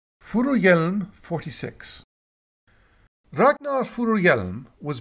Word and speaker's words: Furuhjelm: the sun is and I have it on decent Authority that this is how you pronounce it furu Yelm 46 Ragnar furu Yelm